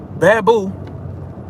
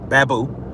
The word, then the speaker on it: Baboo: in a split second is not the truth bamboo who who he told me he actually goes it's pronounced baboo so uh you know shout out to uh